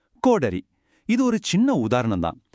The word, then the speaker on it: கோடரி: கோடாலி அப்படின்னு சொல்றது சரியா இல்ல கோடரின்னு சொல்றது சரியா? சரியான பதில் கோடரி.